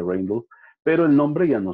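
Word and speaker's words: Rijndael: Y uno de los finalistas se pronuncia Rainbow, pero es la unión de los apellidos de los autores. No se debería pronunciar así, pero ellos, por cuestión de inglés, lo querían pronunciar así. Entonces, siempre se dice Rainbow.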